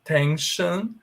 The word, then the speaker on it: tension: Tension, comprehension. Antes do S-I-O-N tem a vogal, aliás, a consoante N.